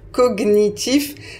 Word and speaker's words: cognitif: Parce que la prononciation officielle, c'est cognitif. Donc, si vous cherchez dans les dictionnaires, vous trouverez cognitif. Mais je dois vous dire que statistiquement, il y a beaucoup plus de personnes qui prononcent cognitif.